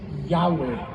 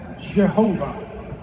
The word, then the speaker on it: Yahweh: In Hebrew, the letters are yud, he and closest pronunciation that we could attain is Yahweh. It is often mispronounced as Jehovah.